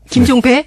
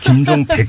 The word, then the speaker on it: 김종백: 자, 이 김종백 씨, 우리 지금부터 발음 조심합시다. 김종배? 네, 김종백 씨.